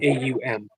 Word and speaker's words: Om: If everything was completely silent, you would hear the vibration Om, actually pronounced Oh, AUM.